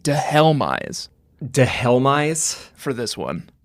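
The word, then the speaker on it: Dhelmise: Pokemon names we'll go with the official Bulbapedia pronunciation de helise de helise for this one sounds great anyway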